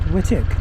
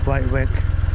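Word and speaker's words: Wightwick: Although I'm informed that it's pronounced Whitik, not Whitewick.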